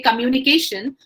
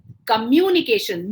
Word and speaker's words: communication: example when we say communication we always say communication we don't say communication so the way we pronounce a word communication mu has the stress on it table day has the